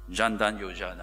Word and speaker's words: Jan Dhan Yojana: embraced this wave of change Prime Minister's Modi's Jan dhan Yojana program I wasn't too sure how to pronounce this in Hindi so I checked with mr. coconut belay Jan dhan Yojana I pronounce correctly it's providing universal access to basic